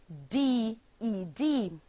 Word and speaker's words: decided: The verb decide, decide, becomes the past tense verb decided, decided, forming three syllables, decided.